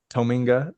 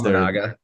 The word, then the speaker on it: Tominaga: But they have that Kisi Tominga, or how do you pronounce it? I don't know how to pronounce his last name. Yeah, but he's Tominaga.